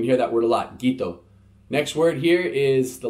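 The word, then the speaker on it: qito: q i-- t oh the letter Q is a hard G sound gah gah gah this case it's qi t oh so it's G Guiteau that's the Fijian word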